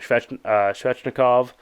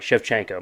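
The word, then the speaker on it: Shevchenko: boat nickel fight on there um Grasso beaten strechnikov I'm sorry chefchenko my bad I was I always mispronounce it anyway um and then you have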